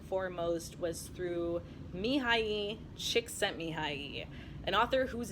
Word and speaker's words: Csikszentmihalyi: flow first and foremost was through Mihai II csikszentmihalyi an author whose name I find myself in a flow state just pronouncing the whole mumbo jumbo of Mihai you